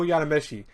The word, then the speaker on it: Yadomeshi: Anyways, what do you guys girls think of episode 2 of this long show with no, yeah, you know, Yadomeshi is how you say the last part.